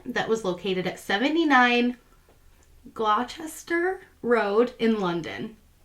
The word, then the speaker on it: Gloucester: was located at 79 Gloucester Road in London. I think I pronounced that right. We have like our Leicester, which has that C. Not Crochester. Gloucester, yeah.